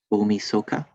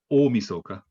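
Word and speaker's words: 大晦日: googled and thank you new year's eve is umi soka really yeah with like a long o i'll start o misoka yeah okay thank you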